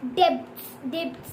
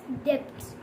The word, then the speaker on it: debts: Guys, you don't have to pronunciate like debts too. You all have to pronunciate like this, debts.